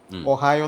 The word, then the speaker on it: Ohio: OHIO എന്ന spelling നമ്മളൊരു സാധാരണ ഒരു വോയിസ് ഓവർ ആർട്ടിസ്റ്റ് അല്ലെങ്കിൽ പറയുന്ന ഒരാൾ ഓഹിയോ എന്ന് പറയും, ഒഹായോ എന്ന് അത് പറയണ്ടേ.